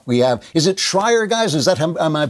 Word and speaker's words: Shrier: We have, is it Shrier, guys? Is that, am I pronouncing her name right? It's Abigail Shrier.